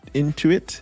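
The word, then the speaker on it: Intuit: Um on the gainers uh we have I think that's in into it is the way that you pronounce it.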